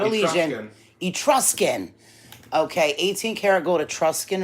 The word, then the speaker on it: Etruscan: of Steve how do you say this um at rusian it no not only Gendron Etruscan okay 18 karat gold Etruscan ring with on